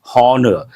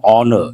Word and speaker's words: honor: Usually people say honesty, honor. That is not correct. H is silent.